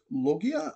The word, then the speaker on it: Loggia: And then there's Robert Loggia. I apologize. That's how you say his name.